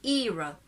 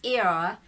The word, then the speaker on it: era: i told you it's era there is a schwa before it reaches the r sound so i'm using the